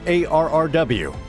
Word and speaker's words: ARRW: The AGM-183A Air-Launched Rapid Response Weapon, pronounced ARRW, was one of several hypersonic missile programs that